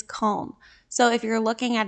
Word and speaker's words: Köln: let's clear the air the English spelling and pronunciation of the city is cologne like the perfume but I asked the local at our hotel the correct pronunciation and she said it is col so if you're looking